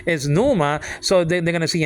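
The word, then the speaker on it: pneuma: they they instinc instinctively preachers don't pronounce the P they pronounce that they pronounce the letter after and the letter after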